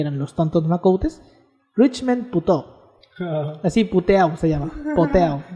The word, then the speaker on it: Puteau: los tontos macoutes, Richmond Puteau. Así, Puteau se llama. Puteau. O sea, Pero se pronuncia puto.